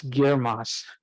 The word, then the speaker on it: GIRMOS: gemini infrared multi-object spectrograph it's a mouthful and we spent a lot of time figuring out how to pronounce it and it's girmos so it's easy to uh to actually say uh it's it's a